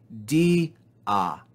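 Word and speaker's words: διά: the second syllable e in this fourth example we see the vowels yota and alpha together in the word but they do not form a diphthong and so we separate this word into two syllables between those two vowels and we say di ah di ah notice again the grav accent telling us to fall on the second syllable di next we have alpha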